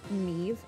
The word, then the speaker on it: Maeve: Okay, so she's pronounced her name Maeve, I'm pretty sure. I have a friend whose name is spelled this way, and she pronounces it Maeve, so do forgive me if I say Maeve.